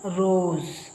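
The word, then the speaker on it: rose: ಈಐದು ಐದರಲ್ಲಿ ಯಾವುದಾದರೂ ಸ್ವರಗಳಾಗಬಹುದು ಅವು ಎಸ್ ನ ಈಕಡೆ ಮತ್ತು ಈಕಡೆ ಎಡಗಡೆ ಬಲಗಡೆ ಎರಡು ಕಡೆ ಇದ್ರೆ ಆಗ ಅದನ್ನ ಜ ಅಂತ ಉಚ್ಚಾರ ಮಾಡ್ತೀವಿ ಈಗ ನೋಡಿ ಇದರಲ್ಲಿ ರೋಸ್ ರೋಸ್ ಅನ್ನೋ ಪದದಲ್ಲಿ ಎಸ್ ನ ಎರಡು ಕಡೆ ವೊವೆಲ್ಸ್ ಇದೆ ಗೊತ್ತಾಯ್ತಲ್ಲ ಸ್ವರಗಳು ಆದ್ದರಿಂದ ಇದನ್ನ ರೋಸ್ ಅಂತ ಓದು ಹಾಗೆ ಇದು ಆರ್ ಐ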